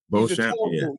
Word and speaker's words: Beauchamp: Beauchamp. Is that how you say his name, from Boston? Marjon Beauchamp. Beauchamp, yeah, from the Bucks, excuse me.